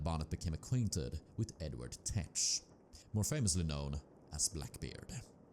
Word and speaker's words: Teach: It was here that Bonnet became acquainted with Edward Tet, more famously known as Blackbeard. If you're wondering about my pronunciation of Tet, it is usually pronounced as teach or thatch.